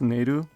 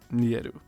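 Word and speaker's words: Neiru: Oh, also it's pronounced Neru, not Nieru.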